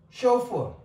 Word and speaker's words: chauffeur: And here we have got O sound from the same combination of these two letters AU. That is tow, chauffeur, aubergine, aubard, and otter.